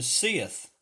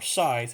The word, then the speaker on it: scythe: does this with is the sith or scythe however some choose to to pronounce it but it's more